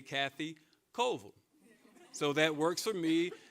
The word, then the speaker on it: Colville: Greensboro, you understand that Ville is not Ville, it's Vol. That's how we pronounce it, as in Gibsonville, Reedsville, McLeansville, so it's Vol.